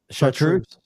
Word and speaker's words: chartreuse: yeah right now the truce what is it chartreuse okay so the controverty the chartreuse is the